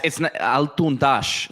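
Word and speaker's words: Altundaş: So yeah, it's Altundash. So the S in a lot of Turkish is pronounced with like a J, Altundash.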